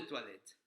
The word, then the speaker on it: toilette: que es eau de toilette. O la palabra para agua se escribe E-A-U. Tenemos toilette. Toilette, volvemos a tener ahí una vocal compuesta, que es el sonido OI que genera el UA.